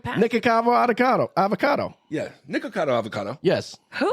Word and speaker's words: Nikocado Avocado: know it's unhealthy yeah and then interes him nikavo avocado is like one of the most famous ones